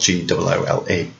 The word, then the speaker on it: Goole: His name is a pun on the word ghoul, Ghoul, whilst in the play his name is spelled Goole.